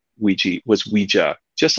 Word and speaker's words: Ouija: So Ouija. A lot of people thought that the name comes from 2 words, oui in French and ja in German. Yes, yes. Not true. But it's pronounced that way.